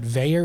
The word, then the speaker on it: Vaer: But Veyer is spelled V-A-E-R.